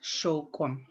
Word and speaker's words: shokwam: And so that ceremony itself is shokwam. Shokwam, again, shokwam. So the U is an O sound, shokwam.